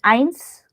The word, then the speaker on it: eins: 1 is eins. Mm. Okay. Can you repeat eins? Eins, E is silent.